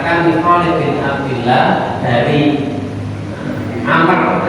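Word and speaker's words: عمرو: Khalid bin Abdullah dari Amr. Kalau ada wawunya ini bacanya Amr, kalau ini tidak ada wawunya bacanya Umar. Nah, itu membedakan.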